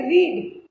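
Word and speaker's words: read: I said रीड, spelling same है but pronunciation फर्क हो जाएगा. प्रेजेंट रूट फॉर्म को हम रीड पढ़ेंगे, पास्ट फॉर्म को हम रेड पढ़ेंगे, बट दोनों की स्पेलिंग सेम रहे.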